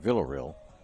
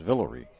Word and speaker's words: Villareal: I've been pronouncing it Villareal, but it's Villareal according to the PA guy.